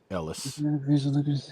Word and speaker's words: Elias: Ellis. Oh, Ellis. Yeah, sorry. Yeah, it said it. It's spelled Elias, but it said Ellis.